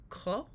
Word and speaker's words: Ko: And speaking of movies with dogs, I was really interested to read a lot about your short film, Ko. Is that how it's pronounced? Yeah, it means thanks.